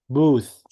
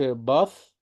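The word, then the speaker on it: both: بم بم التي اتش منطقين ثاء هنا مش منطوقين ز بوث التي اتش هنا منطوقين ثاء بوث ماقولش باث ولا ولا بوث بوث بوث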